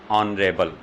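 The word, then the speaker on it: honourable: कुछ silent words दे रहा हूँ जिनमें H साइलेंट होता है, देखिए एन ऑनर, इसकी प्रोनाउंसिएशन क्या होगी, ऑनर। एन ऑनरेबल, एन ऑनरेरी, एन ऑनरेरियम,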